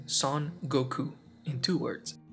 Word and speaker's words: Son Goku: his full Japanese name son Goku in two words son pronounced in French has a pretty awkward pronunciation as a name it would be pronounced like song Goku which translates to his Goku so I assume